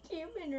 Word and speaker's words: cumin: You pronounced cumin wrong. Cumin, cumin, oregano. I'm used to hearing Coumadin, which is a medicine. So cumin, whatever you want to call it. Cumin. Like Cummins, Georgia.